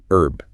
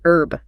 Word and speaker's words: herb: In America, we generally don't pronounce the H. We say herb, like an herb garden. Right. That's actually a holdover from French influence historically. But BRE pronounced the H clearly. Herb, a herb garden. So silent H in AME, pronounced H in BRE for that specific word.